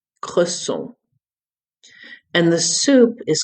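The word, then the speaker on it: cresson: Croissant. Croissant.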